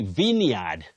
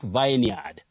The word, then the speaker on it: vineyard: Titus Bravo, Ecclesiastes, vine, and then you say vineyard, not vineyard.